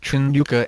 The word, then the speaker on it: Hanukkah: have an English translation the sound at the top of the word is sort of the equivalent of clearing your throat so to spell that sound some use a CH in front of Trin Yuka and some just go without it six unlike Christmas Hanukah